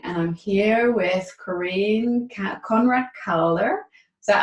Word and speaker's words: Konrad Calder: Hi everyone, it's Annemiek from the Academy for Soul-Based Coaching, and I'm here with Corinne Konrad Calder. Is that how I pronounce it? Yes, Konrad Calder, perfect.